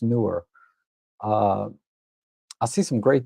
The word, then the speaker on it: Neewer: It's spelled Neewer, but it's pronounced newer.